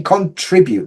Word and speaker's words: contribute: or something but yeah for me contribute the stress is on tree but anyway I'll leave